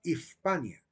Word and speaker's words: Hispania: de la letra s Entonces se pronunciaba ispania después cambiaría a España